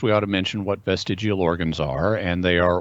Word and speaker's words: vestigial: to pronounce this word you could say vestigial or vestigial and people say it two different ways i'm gonna say vestigial but uh barry wants